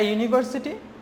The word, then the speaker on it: university: work okay next one see more examples a university Union useful book UNIX in a one rupee